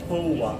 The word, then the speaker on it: Towa: you messed it up for even worse it's toa oh tola samantha how do you pronounce the rest of it oh okay it's